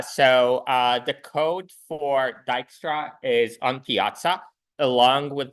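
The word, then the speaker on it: Dijkstra: Python and C um so uh yeah so dyra is pronounced well like that more than like anything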